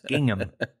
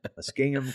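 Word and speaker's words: Muskingum: Zanesville there at the mingham used to have hard fa used to have a hard time pronouncing that but it's mingham mingham County Fairground so it's probably well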